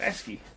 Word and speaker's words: ASCII: ASCII. Okay, so Wes said that's how it's pronounced. ASCII.